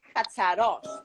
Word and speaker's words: Katsaros: Okay, so basically, yeah, in the States, you obviously get the last name of the father, which is Katsaros, and that's how they pronounce it in the USA. Now, in Greece, my father's last name is Katsaros, like the accent is on Katsaros.